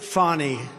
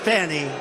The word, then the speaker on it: Fani: It's all, look at Fani, F-A-N-I. It should be pronounced Fanny. Fanny. Fani. Fani. They say she gets very upset if you call her Fanny, F-A-N-I.